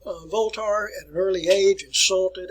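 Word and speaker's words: Voltaire: uh uh 27 y voltar uh if you say it in french there all right now the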